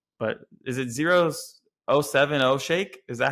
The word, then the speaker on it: 070 Shake: don't know how to say, but is it 070 Shake? Is that how she pronounces it? 070 Shake? 070 Shake.